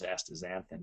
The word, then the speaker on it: astaxanthin: One is called astaxanthin, ASTAZAXAN, THIN. It's said the pronunciation is astaxanthin, but it's XANTHIN.